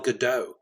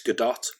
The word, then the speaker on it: Gadot: lumay or you know like gal gadot is wonder woman we say gal gadot but it's not it's gadot and it's lumet so